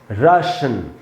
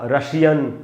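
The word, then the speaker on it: Russian: तो ये दोस्तों रश या राशन ऐसे बोलेंगे, ना कि रशिया, रशियन, इस प्रकार से नहीं बोलेंगे।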